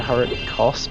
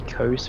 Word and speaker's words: Hurricos: You can pronounce it two ways. Like, I guess the popular opinion is pronounced it Hurricos, but I always say Kos because I don't know why I say Kos.